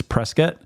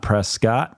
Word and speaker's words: Prescott: have just learned that it's Prescot not Prescott so all of you guys that are looking for good scholarships make sure you say it correctly on your interviews Parker